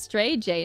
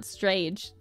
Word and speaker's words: Stray J: Mine's also pronounced as Stray J, not Strage.